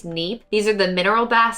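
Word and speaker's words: Kneipp: it's spelled k-n-e-i-p-p and i'm going to assume the k is silent so i think it's neap these are the mineral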